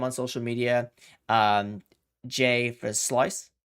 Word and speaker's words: Versluis: Verslau, It's my no, it's Versluis. Versluis, Versluis. Versluis.